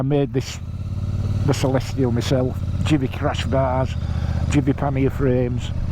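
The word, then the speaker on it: GIVI: with these GI cases jivy it's got to be jivy a't it like G of army jivy G followed by I in Italian pronounce j so the risk attent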